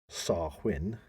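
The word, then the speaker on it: Samhain: in modern times Wayne a Gaelic word pronounced sarwin okay so almost getting it right there it's half win SAR win for those people everybody listening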